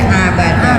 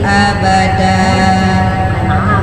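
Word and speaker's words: أبدا: Terus abada dibacanya tadi abada, malah hamzah jadi ain ya. Jadi mahrajnya juga yang belum tepat ya ibu ya. Harusnya bacanya makithina fihi abada, bukan abada ya.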